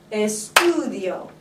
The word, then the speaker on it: estudio: So where do I accent that word? The stu, right? Estudio.